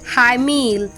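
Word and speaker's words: hymn: एच वाई एम ई एन ई ए L high मल सी ओ एल ओ यू एम एन ए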